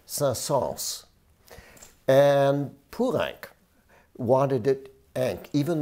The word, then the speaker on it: Saint-Saëns: france so remember that you hear people say saul but he said with the s at the end sals and purank wanted it